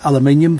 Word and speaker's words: aluminium: Yes, that is aluminium for all the people that pronounce it wrong, all my American friends and watchers.